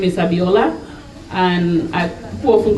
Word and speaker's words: Abiola: on my name is abiola and I often call me because when I first arrived in Australia people find it very difficult to pronounce these five letters abiola they call me ebola even before the Ebola